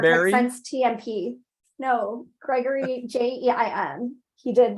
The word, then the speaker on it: Jein: Jean. How do you say his last name? Jean? He started like working with Star Trek Roddenberry? since TMP. No, Gregory Jein.